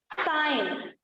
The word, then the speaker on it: sign: जैसे देखो डिजाइन, है ना, डिजाइन में देखो SIGN, है ना, तो जी जो है वो आपका साइलेंट है। नेक्स्ट क्या है? साइन, नेक्स्ट है SIGN, साइन, यहाँ पर भी जी जो है साइलेंट।